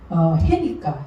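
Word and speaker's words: ה: 그래서 음가는 해니까 히읗으로 나오는 히읗.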